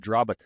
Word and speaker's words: Drobot: cool yeah yeah my last name is actually pronounced drit yeah drit is that how you want people to say it everyone says Drobot I I've said drot since I was a